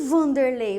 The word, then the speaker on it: Vanderley: va la certo e Vanderley Você já viu Vanderley escrito com W Com certeza né mas o som é de v não é um som de v v v Tá então